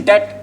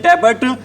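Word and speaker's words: debt: company is इन डेट डेट पता है क्या होता है क्या होता है डेट इसको कई बोल देते हैं बच्चों डेट बोल देते हैं कई इसको क्या बोल देते हैं डेबिट लेकिन होता क्या है डेट होता है आप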